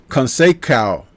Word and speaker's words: Conceição: Conceição.